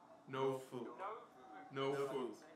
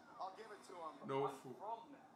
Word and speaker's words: Norfolk: Norfolk. The R is silent. There you go. Better. Norfolk. Did he say Tristan? Justin Roberts, it's actually pronounced Norfolk.